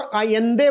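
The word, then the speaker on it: Allende: bye general पिनो शे इनको सेल्व दोर आंदे बोलते हैं अगेन स्पेनिश जो लैंग्वेज है ना उसमें ये डबल एल जो है ना इट इज not pronounce L बट आई आई एन दे और यह पेनोश है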